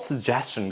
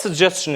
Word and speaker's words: suggestion: yeah it's sh but whenever you see S Plus t i o n in that case that t is pronounced as CH as CH sound it's